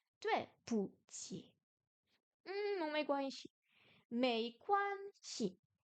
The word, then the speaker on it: 没关系: Est-ce qu'il y a un ton sur le shi? Non. Mei quan shi. Ce n'est rien, ce n'est pas grave. Le ei se prononce comme ei en français et quan comme quan.